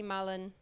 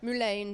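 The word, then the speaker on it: mullein: and then that's fine if we start to see Mullen yeah Mullen right not that what do you call it mulane then right thank you learn something new every day I've probably been saying it wrong my whole life fine okay so there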